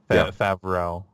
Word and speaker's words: Favreau: One because it's John Favreau, if I'm pronouncing that right. Favreau.